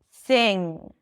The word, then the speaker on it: sing: And then you don't need to add the G sound to indicate that there is a G sound. That NG sound is enough. Sing. There is a difference, a subtle one, between sin and sing.